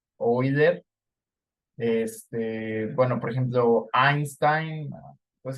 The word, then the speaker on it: Euler: Entonces, es como los alemanes, los diptongos EU se pronuncia OI, entonces esto es Freud, OI, Euler.